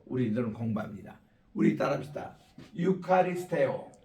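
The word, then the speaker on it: εὐχαριστέω: 근데 우리는 지금 고전 옛날 2000년대 그때 헬라 성경 기록될 때 그때 발음으로 우리들은 공부합니다. 우리 따라합시다. 유카리스테오 유카리스테오 유카리스테이테 유카리스테이테 예, 유카리스테이테 이렇게 감사라 give thanks 입니다.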